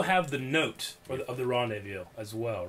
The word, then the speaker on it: rendezvous: They also still have the note of the rendezvous as well, right? Yeah. So we'll see. And Say then that weird. Rendezvous.